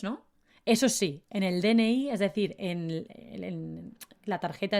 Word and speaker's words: DNI: eso sí en el dni es decir en la tarjeta esta que tenemos de identificación en españa se llama dn-iii aunque la verdad los españoles lo pronunciamos como dni dni dni inténtalo tu